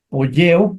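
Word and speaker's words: ποιέω: qué no se grabó poleo lleva acento escríbanlo en su libro es un acento agudo en la épsilon poleo Aquí también lleva acento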